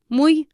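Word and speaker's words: muy: to make it very good very is Mu mu spelled mu u y so it is very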